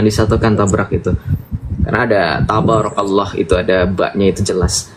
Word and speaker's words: tabarakallah: poin kelima Masyaallah tabrak Allah jangan ditabrak ya tabarakallah harusnya yang jelas pronunciation-nya biar orang engak tabarakallah Sepertinya saya mengatakan tabarakallah tapi kalau bilang tabakallah nanabakallah ya baik Mas J atakan silakan betul